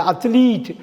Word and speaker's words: athlete: அத்லெட்டுன்னு இல்லை, அத்லீட். அத்லீட், ATHLETE அத்லீட்னு படிக்கணும், அத்லெட்டுன்னு படிக்கக்கூடாது. ATHLETE, அத்லீட்.